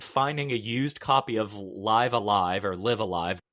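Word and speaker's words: Live A Live: So I ended up using that, finding a used copy of Live Alive or Live Alive. It's Live Alive.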